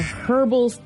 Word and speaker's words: herbal: body WP or a herbal rap I like you pronounce the h in that word instead of herbal it's herbal I've never heard that